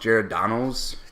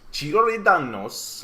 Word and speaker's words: Giordano's: We went to, apparently it's pronounced Giordano's. Giordano's.